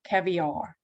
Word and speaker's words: caviar: Но у нас есть, как обычно, исключение, например, слово caviar. Caviar. Caviar. Ударение на первый.